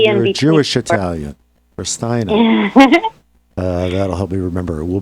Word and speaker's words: Ristaino: Ristaino.